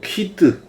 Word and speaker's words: Keyde: 이 제조사 여직원한테 물어보니까 뭐 키드 이렇게 발음한다 그러는데 우리는 그냥 발음 기호처럼 읽어버리겠습니다. 키대 모터.